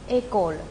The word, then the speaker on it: école: 接下来后头的 ch o l a 当中 h 因为不发音也被去掉了，因此我